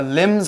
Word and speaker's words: limb: So her limbs are failing. Now, a limb, watch out for that silent B because it's spelled L-I-M-B, but we don't say limb, we say limb.